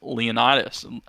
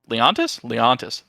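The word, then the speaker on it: Leontus: So starting off at number 5, we have Lord Solaris Leonidas. Leontis. That's how you say it.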